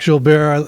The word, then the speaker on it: Gilbert: so thank you last name is Bears spelled like Gilbert g-i-l-b-e-r-t hi my name is jul bear I live at 29